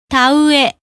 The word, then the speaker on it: 田植え: Each is pronounced in a short, clear, evenly stressed fashion. Here are some examples of vowel sequences. はい、 Yes, 上、 top, 思う、 thinks, 青い、 is blue, 前、 front, 家、 house, 田植え、 rice planting, 具合、 condition. Note that there is a syllable, an even space of time for each vowel.